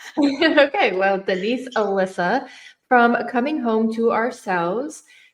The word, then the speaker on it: Elysa: because I just want to make sure I'm pronouncing it correctly. Yeah, no problem. It's Alyssa actually.